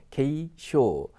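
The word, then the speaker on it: 軽傷: 그게 다치지 않았습니까 그죠 경상입니다 K 쇼 그래서 요것은 가벼울 경자는 기본적으로 음덕이면 다 대부분이 k입니다 그리고 상자도 역시 혼자 쓰면 키 재지만 음독으로 갔을 때는 쇼 그래서 지극히 정상적으로 읽히는 단어 경상할 때 k쇼라고 읽으시면 되겠습니다 그다음네 번째 단어는 뭡니까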